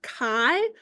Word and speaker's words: chi: a i Kai uh if you call it Chi everyone's going to think you don't know what you're talking about and so you want to make sure that you're using the right uh you're saying it right okay so it's got this kind of fancy x capital x and so uh Kai squared goodness of fit test